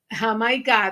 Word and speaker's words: Jamaica: Make sure you take Jamaica. That's how you say it in Spanish. Jamaica.